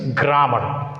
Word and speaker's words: grammar: That one is grammar, which feels very complicated. But here no complication. Grammar, as it is a noun, takes stress on primary syllable, grammar.